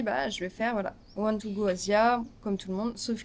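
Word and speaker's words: 12Go Asia: one to go Asia qu'on prononce-nous les français 12 go Asia parce que c'est écrit 12 Go Asia mais c'est one to go Asia.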